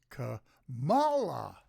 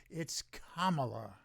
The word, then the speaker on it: Kamala: you know the Republicans the stupid Republicans intentionally mispronounce her name is Cala it's not it's Kamala and I occasionally slip and I assure you